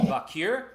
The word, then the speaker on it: Vaquer: title match, is Mercedes Moné taking on Stephanie Vaquer. Is that how you pronounce that?